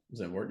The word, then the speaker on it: Zandvoort: If I'm pronouncing it right? Yeah. Zandvoort, yeah.